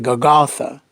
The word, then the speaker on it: Golgotha: word gogolith was used the aramaic version of this word is gagatha or some people pronounce it golgotha the latin version of